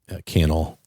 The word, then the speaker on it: Cannell: I listened to a podcast from Think Media, and they're a podcast, YouTube creators, content creation, and Sean Cannell rhymes with YouTube channel.